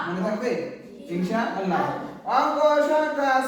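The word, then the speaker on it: ثاء: সা জিহ্বার আগা হতে নরম ভাবে আদায় হবে।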